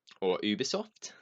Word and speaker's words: Ubisoft: next up we've got Ubisoft or Ubisoft if you want to pronounce it properly Ubisoft showed off quite